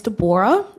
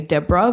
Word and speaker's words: Deborah: everyone my name is Deborah um sometimes when it's read people say Deborah but it's pronounced Debora um that's because I speak French and that's how it's pronounced um I'm not from